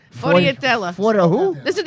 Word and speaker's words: sfogliatella: Sfogliatelle. Did I say it right? Close by. It's Sfogliatella. Sfogliatella.